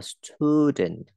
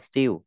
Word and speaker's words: student: I am a student. Mình đọc anh nghĩ là stu nhé, không đọc still.